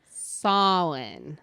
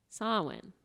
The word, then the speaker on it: Samhain: not tomato it's not tomato it's tomato so it's spelled s-a-m-h-a-i-n and one more time solon yeah get it okay so s-a-m h-a-i-n samming sawin samuel salmon oh like that one angel where